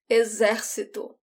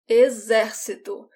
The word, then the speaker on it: exército: Army, military, exército, exército. In this word, the X sounds like a Z, exército.